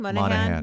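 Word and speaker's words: Monaghan: Monahan.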